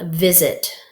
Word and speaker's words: visit: So something I want to teach you about the z sound is S can say s or it can say z. So in visit, the z sound is actually an S.